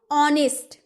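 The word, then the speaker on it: honest: ऑनेस्ट, ओ आ रहा है ना, ऑनेस्ट ओ आ रहा है, यानी कि इसमें तो एन लगाना जरूरी है।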